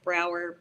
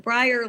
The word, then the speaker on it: Breyer: I would have guessed Brower, but it is pronounced Breyer, like the ice cream.